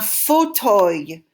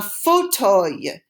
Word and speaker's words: fauteuil: A nice comfy chair is un fauteuil. It's a weird word pronounced kind of like the word we learned recently for leaf, right? Feuille is a leaf. An armchair is un fauteuil.